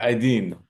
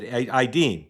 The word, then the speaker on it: Aydin: Say Aydin, but my Aydin. father. Did I mispronounce it, is what you're telling me? Close enough, man.